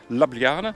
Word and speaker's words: Ljubljana: like a running chicken this capital city is almost impossible to pronounce i just call it lovely jubbly but what's it really all about well today i'm there i'm going to take you about lobliana as it's actually called come along i'll show